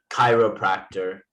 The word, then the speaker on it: chiropractor: makes a k sound certain words it will make a k sound similar to a k like chiropractor it makes it cut but we have church where it makes a ch okay anyway hold on